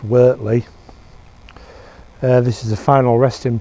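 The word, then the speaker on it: Wortley: and lower workley cemetery and leeds it's about wartly but it's pronounced wertly this is the final resting place of wilfred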